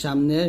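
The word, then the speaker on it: سين: করবেন যা এরকম আর সিনটা দেখুন জিহ্বার আগা সামনে নিচে দুই দাঁতের আগার সঙ্গে লাগিয়ে শীষ ধ্বনির সাথে অর্থাৎ শীষ বের করবেন একটা শীষ ধ্বনির সাথে উচ্চারণ করতে হবে পাতলা করে এই যে এরকম সি এরকম উচ্চারণ করবেন শিনটা জিবার মধ্যখান তার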